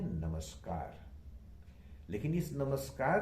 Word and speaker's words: नमस्कार: बोलना चाहते हैं तो अधिकतर लोग बोलते हैं नमस्कार। उसमें पता नहीं क्यों ज्यादा रेस्ट्रिकेसी आती है, या पता नहीं क्यों, लेकिन ये गलत उच्चारण है। सही उच्चारण होना चाहिए नमस्कार, नमस्कार और नमस्कार।